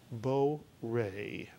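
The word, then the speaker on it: בורא: And lo and behold, the word is pronounced as a two-vowel, therefore two-syllable word. Very simple. Bo-re.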